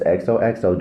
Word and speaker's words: XOXO: pronouncing it correctly XOXO it's XOXO just like you was signed you know at the end of a love letter because that's kind of